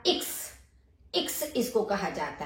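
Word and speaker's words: Ix: एक्स, एक्स का इक्स, इक्स इसको कहा जाता है, एक्स को इक्स।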